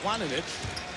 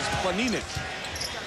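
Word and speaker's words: Planinić: And you've heard all year his name pronounced Planinic. But checked with Zoran before the game, and he said the correct pronunciation is Planinic.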